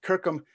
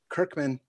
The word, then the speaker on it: Kirkham: development himself here sean kirkham that's right kirkham not to be pronounced kirkman also known as big